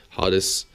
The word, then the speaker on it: Hades: I studied classic Greek. I say it like in a proper way. Hades.